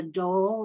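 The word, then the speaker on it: dhol: You showed the Zorna and the dole. Is that how you pronounce it?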